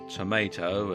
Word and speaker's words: tomato: mango cauliflower Chinese yam tomato or tomato as it's often pronounced spinach cabbage pumpkin grape